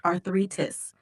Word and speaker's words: arthritis: The word you're about to use is Athletics. arthritis, Athletics. pronounced arthritis.